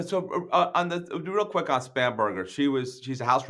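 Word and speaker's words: Spanberger: um how do I pronounce her Abigail spam spam Berger am I pronouncing you got it you got it you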